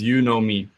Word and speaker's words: Unomi: customer data platform and it's pronounced as you know me it's kind of like a word joke and it's a java